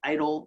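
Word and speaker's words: EIDL: very powerful there's also the economic impact disaster loans what's being pronounced idle loans these are long-term loans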